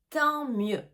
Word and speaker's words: tant mieux: Tant mieux. Tant mieux. Et attention encore une fois aux lettres qu'on ne prononce pas.